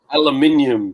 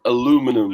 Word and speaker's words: aluminium: It's like aluminium, not aluminum.